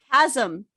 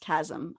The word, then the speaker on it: chasm: So this whole painting is called Chasm. It's pronounced chasm. I learned that, and I've been saying chasm for years. It's chasm.